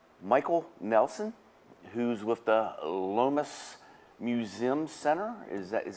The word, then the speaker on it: Lomas: us today um Michael Nelson who's with the Lis Museum Center is that is that how it's said that's correct Lis Center Museum okay and that's in gburg that